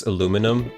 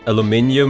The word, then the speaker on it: aluminium: But yeah, you should hear how the British pronounce aluminum. Aluminium. Aluminum.